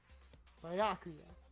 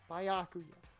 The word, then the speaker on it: Byakuya: Byakuya. That's how you pronounce it. Byakuya.